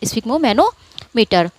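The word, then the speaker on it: sphygmomanometer: ये होगा स्फिग्मो, पहले इतना आप इसको प्रोनाउंस कीजिए, स्फिग्मो और फिर मैनोमीटर, स्फिग्मोमैनोमीटर।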